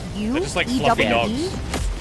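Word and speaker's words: ewe: cute they're like dogs it's not pronounced e it's pronounced like you they like come on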